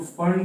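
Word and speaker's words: Pfund: N equal to 5 में आ रहा final, तो फंड सीरीज बोलते हैं। पी साइलेंट होता है, इस पे लिखने में पी फंड लिखा जाता है।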